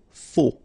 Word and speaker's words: Faux: Okay, final X not pronounced. Then you get this AU together. O. Faux.